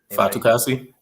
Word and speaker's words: Fatukasi: I can never know how to pronounce that name. Fatukasi.